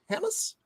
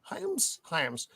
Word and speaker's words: Hyams: How do you pronounce this, Matt? So I don't fuck it up. Is it breathe, Roman? Hyams? Hamas? I would say Hyams. Hyams.